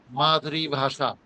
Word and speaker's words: মাতৃভাষা: মাতৃভাষা বলা যাবে না, মাতৃভাষা, মাতৃভাষা, মা আলাদা করে, মাতৃ, এটা বললে ত দুইবার উচ্চারণ হয়ে যায়। মাতৃভাষা, মাতৃভাষা, মাতৃভাষা।